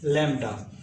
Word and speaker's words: lambda: represented by the symbol this and it is pronounced as lambda so first crust and the next crust is